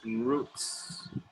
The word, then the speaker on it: routes: That is routes. Oh, sorry, routes. So it's out. Like out, outside, outdoors. Routes. Routes. Routes. Routes. One syllable.